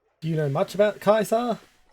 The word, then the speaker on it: Caesar: Oh, one of my favorite subtle details about Fallout New Vegas is um Kaisa is the correct classical Latin Latin pronunciation for the name, not Caesar.